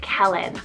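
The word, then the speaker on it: Kellan: the list here i have kellen spell k-e-l-l-a-n kellen i'm loving this one as more of a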